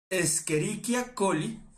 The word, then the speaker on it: Escherichia coli: No se pronuncia Escherichia porque suena como. ¡Uy, Escherichia! No. Escherichia coli.